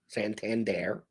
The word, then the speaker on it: Santander: Santander. That's how you pronounce the name.